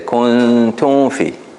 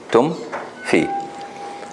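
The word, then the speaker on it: كنتم في: But the common mistake here is that they would basically merge the mim into the fa. They would say kuntum fi, tum fi. And here, to pronounce it properly, basically you have to be able to close your lips at the end of the mim.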